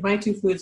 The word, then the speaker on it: MaituFoods: Starting out, I think, Giovanna, one of the things I'm really excited to talk to you about is in My Two Foods. Am I pronouncing that right?